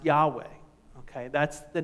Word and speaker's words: Yahweh: In fact, the name which we would pronounce Yahweh, okay, that's the name, the I Am name, here in this passage of Scripture.